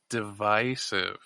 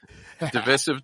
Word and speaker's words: divisive: Differing pronunciations of divisive, right? Divisive, divisive. Both are familiar. Both are widely used. And there is no difference, rather like the two pronunciations for either tomato or tomato. Just individual idiosyncrasy.